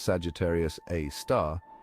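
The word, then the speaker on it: Sagittarius A*: black hole known as Sagittarius A asterisk pronounced Sagittarius A star has a mass millions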